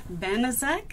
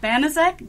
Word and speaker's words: Banaszak: Hello, this is an oral history interview with Banaszak. Is that the correct pronunciation? That is correct. Banaszak, interviewed today by Sammie Morris in the Purdue Oral History Program Project.